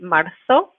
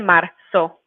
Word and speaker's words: marzo: But in pretty much all of the other Spanish-speaking countries, we're going to pronounce the letter zeta as an S. So it will be el 2 de marzo.